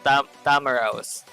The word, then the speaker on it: Tamaraw: Just pronounce it like this. Tamaraw.